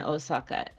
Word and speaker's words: Osaka: usually it's an o o o but it's pronounced o I don't think I would ever spell Osaka with an o u it just seems weird